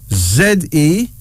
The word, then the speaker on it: Zene: Zene. Z-E-N-E. Pronounced as Zene.